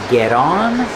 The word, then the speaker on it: get on: Remember, pronunciation, get on, get off. The T changes to a fast D.